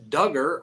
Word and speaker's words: Duggar: settles the civil suit Josh Duggar rhymes with hugger is getting comfortable in